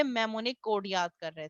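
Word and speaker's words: mnemonic: इन इस मेमोनिक में एन जो है वो साइलेंट है, तो हम इसको मेमोनिक रीड करते हैं।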